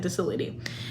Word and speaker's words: docility: Sorry, that's how you pronounce it, docility.